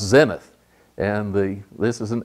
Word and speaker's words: zenith: ever rise or set they're always up the Zenith here are some points that should be pronounced Zenith and the this is an Arabic term like